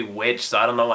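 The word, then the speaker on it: VVitch: trailer for The like the witch or is it the vich cuz the way they spell it in the trailer looks like two v's but it's supposed to be witch so I don't know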